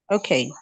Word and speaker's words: okay: Pay attention to the stress placement in Okay. Okay. Not okay. Okay. It has a rhythm. The rhythm is important.